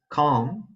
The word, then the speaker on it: calm: So in the word calm, the L is followed by the consonant M, and that makes the L not pronounced or silent.